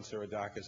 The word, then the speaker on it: Seiradakis: And we're working in particular with John Sirodakis at the University of Thessaloniki, I learned yesterday as a pronunciation, who will provide us with some telescopes